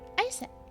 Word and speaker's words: Aset: Aset. So about Aset. Let's start there. Horus's mom is named Isis, but in ancient Egyptian, it's pronounced closer to Ise or Aset.